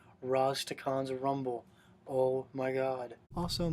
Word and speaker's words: Rastakhan's: It's pronounced Rastakhan's. It's not that hard. Rastakhan's Rumble.